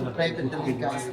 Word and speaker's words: linga: L-I-N-G-A, linga, or some people pronounce lingam.